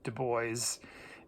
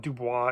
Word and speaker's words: Du Bois: so note it's not dubois it looks like dubois it's not he pronounced it du bois and so that is